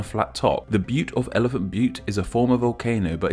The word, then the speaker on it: Elephant Butte: course elephant part of reservoir well it's actually pronounced Elephant Butte reservoir but come on but so funny Elephant